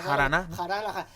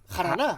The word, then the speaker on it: jarana: Jarana. ¿Cómo se dice? Jaraná. Jaraná, ¿no? No es... Yendo más atrás. No, jarana. Sí, vale, se dice jarana, pero viene de haram.